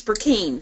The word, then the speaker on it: Brecheen: translate correctly that's okay it's Bru teen brick teen and you did from